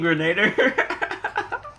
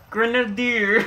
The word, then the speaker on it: grenadier: You mean grenader? Grenadier. Why you say it like that?